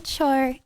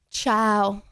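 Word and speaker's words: Chao: Is it Ciao? Okay, my bad. Pronounced it wrong. My bad. Ciao. Not a cho.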